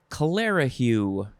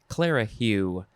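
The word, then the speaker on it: clerihew: power and influence next is this is interesting clara hue clara hue it is spelled c-l-e-r-i-h-e-w clara hugh noun from 1928 a light verse quatrain rhyming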